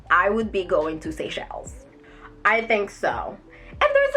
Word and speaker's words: Seychelles: sunday in seychelles is how you say it seychelles you know what i'll know how to say